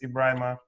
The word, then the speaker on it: Ebrima: Mostly people pronounce it Ebrima, but it's okay. It's Ebrima.